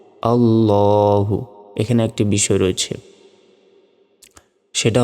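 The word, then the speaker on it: الله: বাড়ি দেখুন এটা হচ্ছে আল্লাহ শব্দ তো আল্লাহ শব্দ ডান পাশে জবর অথবা পেশ থাকলে লাম খারা জবর লানা বলে ল বলতে হয় আল্লাহু আমরা জানি লাম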